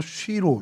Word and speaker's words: 실로: 오늘 저희가 살펴볼 성경의 장소는 실로라는 곳입니다. 히브리어 발음도 쉬로 쉬로 요렇게 좀 바람이 되고요.